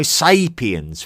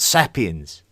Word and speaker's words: sapiens: It is homo sapiens with a long a, not sapiens.